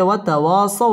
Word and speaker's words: وتواصوا: وتواصوا بالصبر وتواصوا بالصبر ওয়াও ঠোঁট গোল করে উচ্চারণ করতে হবে ওয়াতাওয়া জবরের বাম পাশে খালি আলিফ মদের হরফ একালিফ টেনে পড়তে হবে ওয়াতাওয়াসাউ জবরের বাম পাশে জজম ওয়ালা ওয়াও লিনের হরফ তাড়াতাড়ি পড়তে হবে ওয়াতাওয়াসাউ বিস-সাদ তাশদীদ ওয়ালা